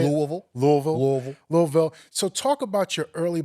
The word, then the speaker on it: Louisville: to Columbus you're from Kentucky right Lou Louisville Louisville how do you say Louisville Louisville Louisville louville so talk about your early Beginnings in radio